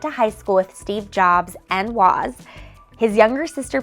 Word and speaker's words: Jobs: of your classes, and you still pronounce his name the way he and his family did, with a long O, like Job in the Bible.